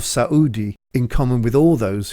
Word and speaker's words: Saudi: for some time Qatar noted the separated syllable pronunciation of Saud II in common with all